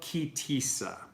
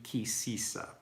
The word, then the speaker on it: Ki Tisa: So on Sunday is the first reading of Ki Tisa, or in more Ashkenaz pronunciation, Ki Sisa.